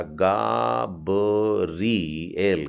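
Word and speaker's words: גבריאל: गिमेल के नीचे आ की मात्रा है, बेत का सरल ब उच्चारण है, और फिर रेश में ई की मात्रा री, तो हो गया गाबरिएल, गाब्रिएल।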